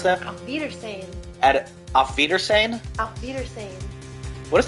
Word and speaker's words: Auf Wiedersehen: How do you pronounce that? Auf Wiedersehen.